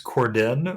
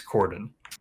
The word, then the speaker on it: James Corden: Is it actually James Corden or is it James Cordon? I think it's Corden. I think that's how you pronounce it. I like the way you say it. You're giving him way too much credit. It's not Corden. That's way too fancy. It's like That's like a French annunciation.